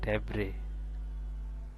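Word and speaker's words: debris: এখানে এস এর উচ্চারণ না আসে, এখানে হবে ডেব্রে।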